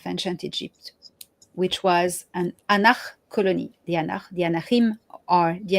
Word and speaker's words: Ankh: the origin of ancient Egypt, which was an Anach colony. The Anachim are the Anunnaki. Okay, it's the real name Anachim. Mm-hmm. Anach is the language.